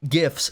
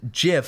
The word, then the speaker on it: GIF: for those who don't know the creator of gifts said that it's pronounced jiff he's been saying he doesn't know [ __